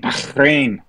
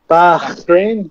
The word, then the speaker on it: Bahrain: Paperclip, and we have WEC season finale in Bahrain. Yes. How do you say it one more time, Sean? Bahrain. Bahrain?